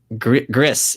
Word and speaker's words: Gris: Gris is pronounced like gristle.